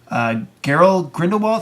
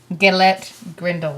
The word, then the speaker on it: Gellert Grindelwald: Depp will be playing Geralt Grindelwald. How do you say that first name? Hold on, let me look at it. Gellert Grindelwald.